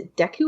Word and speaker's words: Deku: or deck is a Deku or date I always pronounce it with an A but it's probably Deku I've always said thank